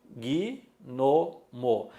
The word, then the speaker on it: gnomo: Eu pronuncio gnomo. Eu pronuncio em 3 sílabas.